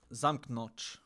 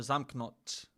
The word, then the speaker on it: zamknąć: So you say zamknąć or zamknąć. Zamknąć.